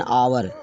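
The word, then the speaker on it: hour: और अगर कोई शब्द एच से प्रारंभ हो लेकिन वहाँ एच का उच्चारण ना हो, एच साइलेंट रहे, तो वहाँ पर हम आयन का प्रयोग करते हैं। ऐसे ही आप समझ सकते हैं। ऐसे और एग्जाम्पल इसका लीजिए, एन आवर, एन ऑनर, HONOUR, ऑनर mean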